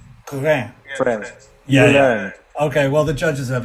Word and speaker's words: Guérin: But that's... Guérin. It's French. Guérin. Guérin. French. Yeah. Guérin.